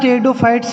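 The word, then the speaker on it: Pteridophyta: आज हम 3 नंबर बात करेंगे टेरिडोफाइटा। टेरिडोफाइटा में पी साइलेंट रहता है, ध्यान रखना।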